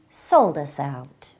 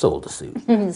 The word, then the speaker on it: Soldasout: I'm Helen Hempcar, and today we're talking to Steve Soldasout. That's pronounced Soldasuit.